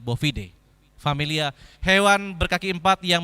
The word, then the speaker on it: bovidae: berasal dari familia bovidae terusannya boobyday Tapi bacanya bovidae familia hewan berkaki empat